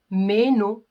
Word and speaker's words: meno: Donc, les dents, dis-nous la dent, meno, les dents. Donc, je traîne sur la première syllabe qui est meno. Par contre, pour le pronom personnel, c'est meno. C'est un peu rapide, c'est un peu saccadé.